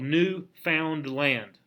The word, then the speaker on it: Newfoundland: were there yes newfoundland it's it's spelled new found land but one word newfoundland newfoundland eric the